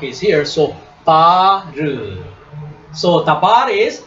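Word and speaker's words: דבר: So tabar is how many syllable word?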